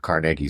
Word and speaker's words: Carnegie: going don't you mean Carnegie it's like no it's carnegi that is the Scottish pronunciation but that book argues